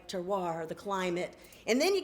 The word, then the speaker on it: terroir: Roll your R's, people. The terroir.